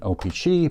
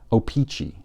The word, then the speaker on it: O-Pee-Chee: Of course, tops is much cheaper than an O-Pee-Chee, but you're still talking about thousands of dollars for an unopened pack authenticated by PSA.